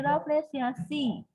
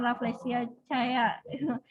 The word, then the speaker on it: Rafflesiaceae: Jadi Rafflesiaceae ya, bukan cae ya, bukan Rafflesia caya, bukan ya, Rafflesiaceae bacanya.